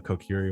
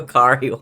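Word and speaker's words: Korcari: Even though you were far from the Kokiri wilds, The Kokiri It's Wilds? Kokari wilds. How do you say it It's again? the Kokari Wilds.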